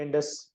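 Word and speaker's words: Andes: अच्छा जी, सबसे पहली जो माउंटेन रेंज आज हम पढ़ेंगे वो है एंडस माउंटेन्स रेंज। एंड्स भी इसको बोला जाता है, मुख्तलिफ किस्म के इसके प्रोनाउंसिएशन है, जो भी आपको समझ में आए, लेकिन स्पेलिंग आप लोगों के सामने है।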